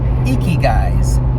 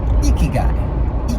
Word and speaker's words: ikigai: purposes in life icky guys if you will ikigai guy gotta get that pronunciation now that i've heard it doesn't sound like icky guy all i can think